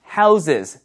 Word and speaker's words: houses: 우리가 하우스, 하우스 이렇게 발음을 많이 하는데 이게 이제 복수가 될 때는 조심하세요. houses 아시죠? houses 좀 더 느끼하게 해도 돼요. houses houses 그래서 복수가 될 때는 발음이 끝에 z처럼 발음이 된다는 거 houses 이렇게 된다는 거 기억을 하시기 바라겠습니다.